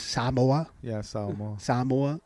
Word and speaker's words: Samoa: saying Samoa. It's Samoa. Yeah, Samoa. Samoa. You gotta put an emphasis on the A.